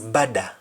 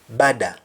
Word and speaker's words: bada: do you say better better is bada in jamaican patra bada that's why you have